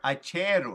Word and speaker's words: Acheru: Acheru.